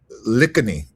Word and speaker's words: Lakhiani: Lakhiani, is how you say it? Vishen Lakhiani, okay.